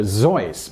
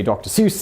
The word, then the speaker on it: Seuss: intended for example Dr seus should actually PR pronounced Dr zoy but Theodore geel got tired of correcting people so we all now say Dr Seuss instead of how Dr Seuss initially intended similarly